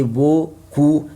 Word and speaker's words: beaucoup: For that, I say beau, coup. The letter P, I don't pronounce it.